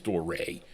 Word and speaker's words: Doré: Here I am telling you what to say and I'm calling it Dory. It's not. It's Doré.